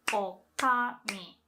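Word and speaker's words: 女将: So for female innkeeper, you can say okami.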